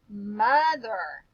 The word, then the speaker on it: mother: would that make sense Mother m uh other oh is making a totally different sound guys it's making a short u sound M other what happens